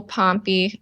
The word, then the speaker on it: Pompy: That's Pompy, little Pompy, rhymes with Stompy, and Richard Jacobson, who is Edwin's younger son.